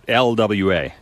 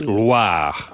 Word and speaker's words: Loire: Oh, I didn't Not roll the Loire. R. It's not LWA. Oh. It's Loire.